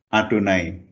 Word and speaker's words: Adonai: Sehingga kalau ada nama ini dituliskan, maka di dalam cara membacanya adalah Adonai.